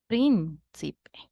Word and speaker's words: príncipe: Príncipe. Prin is the antepenultimate syllable, which means that this word is esdrújula.